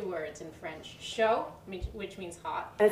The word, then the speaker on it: chaud: 2 words in French, chaud, which means hot. And it's spelled D. C-H-A-U-D. But I didn't know you don't pronounce that chaud D.